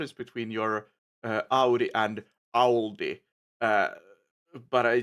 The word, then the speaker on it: Audi: Audi. Audi. Howdy. See, I I tried like annunciate it by saying owl like Ow, and it helps me get that pronunciation a little bit better.